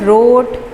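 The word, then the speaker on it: wrote: बी है the teacher रोट ऑन the black board. उस्ताद साहब तख्ता स्याह पर लिख रहे थे, या उस्ताद साहब ने तख्ता स्याह पर लिखा। राइट की second form रोट, W silent है।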